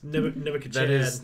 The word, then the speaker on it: Nebuchadnezzar: Nebuchadnezzar. That is the proper pronunciation.